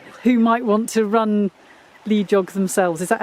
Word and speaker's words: LEJOG: And what are your top 5 tips for anybody who might want to run lead jog themselves? Is that how you say it? Lead jog? Le jog. I say it like hedgehog.